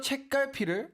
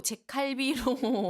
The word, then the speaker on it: 책갈피: 이 책갈피 발음 어떠세요? 좀 어려워요. 책갈피. 책갈피. 그죠? 계속 지금까지도 책갈비로 와, 읽을 때도 책갈비.